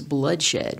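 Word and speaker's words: Bluddshed: Anyway, his name is Bloodshed, but it's spelled B-L-U-D-D, Shed.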